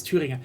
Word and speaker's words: Thüringer: That actually kind of makes sense because like the Thüringer, it's Thüringer. Sorry, I'm trying to say Thüringer Bratwurst. Okay, That's how you pronounce it.